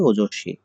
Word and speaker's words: ওজস্বী: লক্ষণ ওজস্বী, ওজস্বী শেষে বফলা থাকলে সেটি ২ বার উচ্চারিত হয়, তাই হয়েছে ওজস্বী।